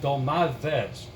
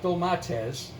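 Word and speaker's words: ντολμάδες: stuffed grape leaves or as the Greek people pronounce it dull my Fez not though my test dull my Fez th easy I mean you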